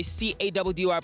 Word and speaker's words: CADDY: Your boy CADDY pronounced Caddy is out of here.